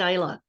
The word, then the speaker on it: Islay: not that s sadly oh yes who said Isa anybody who drinks whiskey that's correct two another